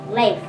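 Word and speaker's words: Leif: super girl lengths about L e I F and pronounce late lisa is a stubborn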